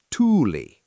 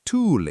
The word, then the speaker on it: Tuuli: Like the word for "wind": Tuuli. Leo, try Tuuli.